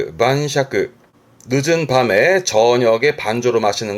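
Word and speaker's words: 晩酌: 발음은 만샤크.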